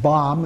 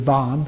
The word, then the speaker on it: Vam: Typically in Tibetan it's pronounced Bam instead of Vam, so this is the Sanskrit version here.